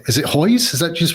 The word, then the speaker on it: Hoyes: never asked you your last name is it hoys is that just pronounce it that way exactly right Hoy